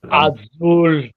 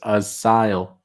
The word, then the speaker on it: Asyl: I know there's many pronunciations. Azul. Azul. No, I don't know what that is. It's asile.